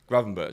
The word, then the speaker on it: Gravenberch: of the pronunciation? Starting to. Gravenbach? Gravenberch.